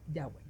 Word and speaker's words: Yahweh: Textos antiguos como los de los samaritanos y algunas inscripciones también apuntan a que se pronuncia Yahweh.